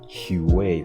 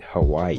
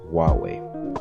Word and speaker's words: Huawei: I remember back then I used to pronounce it as Huawei, like Huey, in a much more funny way, and other people used to call it Hawaii, which is just crazy to say the least.